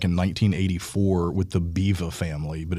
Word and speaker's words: Biewer: Riley is technically a Buer Terrier. Okay. And it's actually, to be correct, he's a Biva. Which is? But I call them Buers just because I'm an American and I'll butcher the German language.